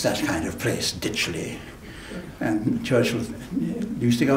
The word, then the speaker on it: Ditchley: a multimillionaire, who had a big estate called Ditchley, D-Y-T-C-H-L-E-Y, not even D-I-T-C-H.